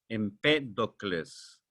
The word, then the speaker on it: Empédocles: Empédocles, en P con acento en la E, Empédocles.